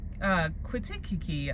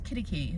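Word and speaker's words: Quitaque: And for the longest time, I had no idea how it was pronounced. So I was like, Quitikiki, I don't know. And they're like, no, it's Kittikee.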